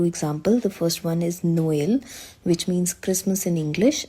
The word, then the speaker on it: Noël: The main function is to help pronounce 2 adjacent vowels separately rather than blending them into one. So there are 2 examples. The first one is Noël, which means Christmas in